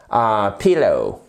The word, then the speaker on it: pillow: Pillow. Vous voyez, vous avez votre accent tonique qui est ici. Le stress se fait sur la première syllabe.